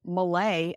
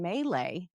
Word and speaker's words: Malay: And then I found out that people say Malay and Maylay. I was like, "Oh man, you can just pronounce real simple short words all kinds of ways."